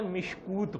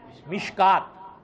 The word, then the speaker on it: مشکات: شدھ بدھ نہ ہو تو مشکات شریف کا تلفظ یا لفظ ایسا لکھا ہوا ہے کہ آدمی اس کو مشکات پڑھنے کے بجائے مشکوت پڑھے. کیا پڑھے؟ حالانکہ اس کا صحیح تلفظ کیا ہے؟ مشکات.